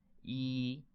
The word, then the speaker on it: 一: take a nap that's it how do we pronounce it e this is the pronunciation this is an animation